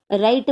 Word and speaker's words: write: आता राईट मध्ये आपण W चा उच्चार करत नाही.